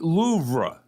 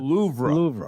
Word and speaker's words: Louvre: There's technically a little "ra" at the end. It's been in the news because of the jewel heist in October. See how it rolls off the Louvre. Louvre.